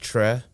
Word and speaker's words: Chueh: It's pronounced Tre, but like say Star Trek without the K. But I prefer Chew because it kind of rolls off of my first name, with the two oo sounds.